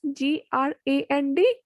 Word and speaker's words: grand: Second is GRAND, grand, big and tall. AVION, avion. INSTITUTE, institute. In where VN is EN is there, so O. EN has sound O. In grand, AND is there, so grand.